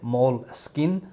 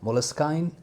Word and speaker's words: Moleskine: So what I found out a little bit, that this is originally an English word, and the original pronunciation is Moleskine. I think it's Moleskine. And then when it had some French influence, it switched to Moleskine.